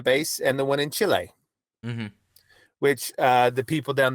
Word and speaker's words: Chile: and the one in Chile which uh the people down there always are very insistent that you pronounce it Chile and not Chile right yeah they're a